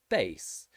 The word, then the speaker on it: bass: short vowel r sound there is also another exception and that is bass bass has the long vowel a sound so it doesn't actually have a or a so this is the same for american english too we'll say bass in